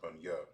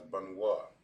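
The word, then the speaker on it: בנו: It will be pronounced, sorry, not Bunya, Bunwa. My mistake. It will be pronounced as Bunwa.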